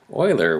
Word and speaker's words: Euler: called euler's number and you might be thinking euler what do you mean euler i mean leonard